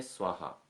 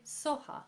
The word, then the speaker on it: Soha: Om Tare Tuttare TURE Swaha. TURE SOHA. SOHA, exactly. In the Tibetan traditions, their pronunciations are slightly different than Sanskrit, so slightly looser, you know. So Swaha becomes SOHA.